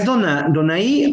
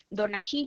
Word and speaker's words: Donají: ¿Es Donaí o Donají? Es Donají Yarimé.